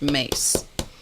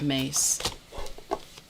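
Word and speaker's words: Myss: cards by carolyn mace her last name is spelled m-y-s-s but it's pronounced mace looks like miss pronounced mace you have one deck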